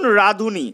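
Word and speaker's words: রাঁধুনি: রাধ যুক্ত অনি উচ্চারণ হবে কি উনির মতন, রাধুনি। জল যুক্ত অনি উচ্চারণ হবে উনির মতন, জলুনি।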